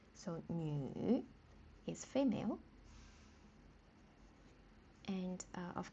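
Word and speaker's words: 女: This one is nü. But the pronunciation is slightly tricky. Like we say nü. So, nü is female.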